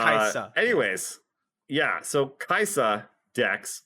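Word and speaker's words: Kai'Sa: Kaisa? Everyone pronounces it Kaisa. Kaisa. A little more emphasis on the S.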